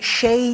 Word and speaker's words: Shea: Sir, ma'am, whatever your preferred pronouns are, why would you name yourself S-H-E-A and say it's pronounced Shea?